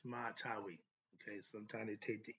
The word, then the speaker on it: Sema Tawi: Right thinkers, let's talk about what is Sema Tawi or Sma, Smaitaui or Tawi, but it's pronounced Sema Tawi.